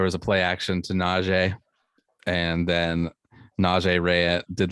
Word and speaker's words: Najee: He pronounces it Najee.